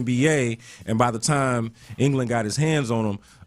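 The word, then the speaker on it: Chip Engelland: All right, the other headline here locally, the Rockets hired Chip England. Am I pronouncing his name right?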